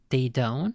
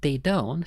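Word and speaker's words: Daedone: Daydone, is that how that's pronounced? It's basically dead, but you swap the A and the E.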